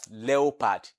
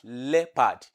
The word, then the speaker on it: leopard: will pronounce it as leopard. But it's not pronounced as leopard, and it's not pronounced as leopard. But it is pronounced as leopard. Leopard. The O in that spelling is not pronounced.